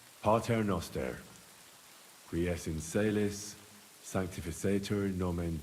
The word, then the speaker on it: Pater Noster: Pater Noster.